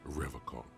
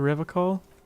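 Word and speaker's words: Revachol: forever call he pronounces rivercon with a hard K unlike other people what the you said a river call I like to pronounce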